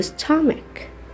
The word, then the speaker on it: stomach: وفي كلمة stomach هنا طبعا أخذنا قبل كده CH مع بعض بتنطقوا تشا، لكن في الكلمة دي بالذات هنا حرف ال H بيكون silent وتنطق معانا letter C بس.